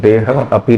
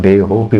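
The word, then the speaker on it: देहोऽपि: परंतु उच्चारण करते समय हम देह अपि नहीं करेंगे हम दे होप बोलेंगे केवल शब्द भेद करने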